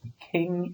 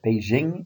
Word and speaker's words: Beijing: Used to be called Peking. It was decided that Beijing is a little bit closer to the Mandarin Chinese pronunciation.